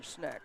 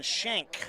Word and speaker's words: Schneck: Evan Schneck on the stop for the missiles after a gain of one. I'm being told that is Evan Shank. That's how you say his name.